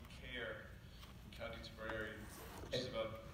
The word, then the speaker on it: Cahir: C-A-H-I-R. Sounds, and most Americans who come through think it's Cahir. It's pronounced Cahir, C-A-R-E, is what it sounds like.